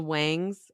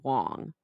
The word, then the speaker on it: Wang: And she calls them the Wangs and she's like Mrs. Wang when really their names it's spelled W-A-N-G, but it's pronounced Wong.